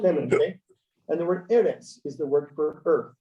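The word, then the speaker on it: ארץ: Now, normally put the accent on the last syllable, instead of eretz, they put this little funny little triangle thing sideways. That's where the accent is. So this is going to be eretz instead of eretz.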